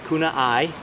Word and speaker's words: Kunia: Tent, which is, this is the Nemo Kunia is how I hear everybody pronounce it. Kunia.